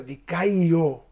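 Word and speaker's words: δικαιόω: Aquí la palabra justificados en el griego es dikaio, o también se pronuncia dikaio, porque tiene una doble O final.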